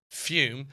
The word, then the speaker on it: Fume: That's Fume, pronounced Fume, spelled F U M.